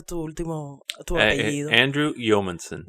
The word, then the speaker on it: Yeomanson: Andrew, yo no sé cómo pronunciar tu apellido. Andrew Yeomanson. Yeomanson.